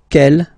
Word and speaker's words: quel: Quelle, masculine form here, will be pronounced exactly as the feminine form here. Quelle. So only one sound, okay?